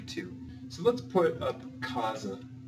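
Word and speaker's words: casa: so let's put up Kaza remember it is a z not an S because it is in between two vowels so this just means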